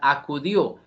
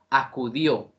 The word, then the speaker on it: acudió: una sola sílaba acudió acu serían las sílabas átonas mientras que dio sería la sílaba tónica Bueno hasta el momento